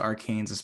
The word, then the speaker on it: Arkansas: No, I mean it's pronounced Arkansas, but Kansas is going to win.